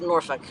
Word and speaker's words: Norfolk: like Norfolk is spelled n-o-r-f-o-l-k but it's really pronounced Norfolk so where I'm going it's there's seven Seven